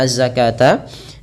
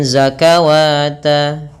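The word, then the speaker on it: الزكاة: Waatuzzakata, berhati-hatilah juga dalam mengucapkan azzakata, jangan dibaca sebagai zakawata.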